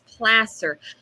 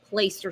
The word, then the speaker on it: Placer: much the spelling but local reporter is not pronouncing placer correctly it's placer now i'm guilty as charged and i'm not a local reporter uh for a few days straight nobody corrected me i kept saying place your sheriff how we doing